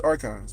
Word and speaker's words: archons: gonna go with arons I'm gonna say arons even though there's a h and you got to pronounce that but we're not g to pronounce it because it's archons because that's just how we do thinkk the the West